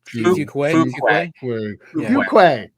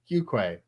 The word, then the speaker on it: Farquhar: How do you say his name again? Farquhar. I believe it was Fuquay. Fuquay.